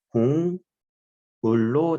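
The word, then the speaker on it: 곡물: 3을 떨어뜨리면 기억에 3을 소리색이 2로 떨어뜨리면 뭐가 돼? 이응이 되지. 그래서 발음이 공물로 나면 돼요.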